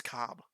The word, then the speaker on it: Kolb: There's an L in there, but I'm pretty sure it's Kolb? silent. I think it's Cobb, but there's an L in there.